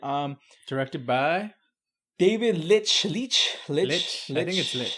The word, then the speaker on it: Leitch: directed by David Lynch leach Lillis letting you sleep I think it's Mitch to the way it's spelled le i TCH he actually also directed